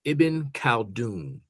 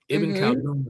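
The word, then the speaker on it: Ibn Khaldun: I mentioned I said his name Iben Kaldun Iben Kaldun the 14th century Arab philosopher uh his most famous book he wrote a book called uh the Makama.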